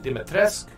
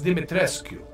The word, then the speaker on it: Dimitrescu: lately i don't know some people say you pronounce it dimetresk i'll just call her lady d lady dimitresque it's dimit rescue how do i know